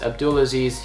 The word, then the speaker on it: Abdulaziz: My name is Abdulaziz. If you just type in Abdulaziz into YouTube, it'll come up, and just as it sounds.